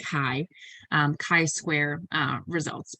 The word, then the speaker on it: chi: proportions instead and here you're using what's called chi square uh it's spelled chai but it's pronounced chi um chi square uh results but again we're